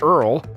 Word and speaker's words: URL: first name was going to be URL pronounced Earl Hermes name was originally